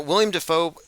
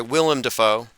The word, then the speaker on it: Willem Dafoe: Now, William Dafoe, didn't he play Christ? Last Temptation of Christ? Yes. Mm-hmm. Sorry, Willem Dafoe, for those who are I will cease to mispronounce that one.